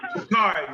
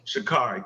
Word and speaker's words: Sha'Carri: Sha'Carri, man. Sha'Carri.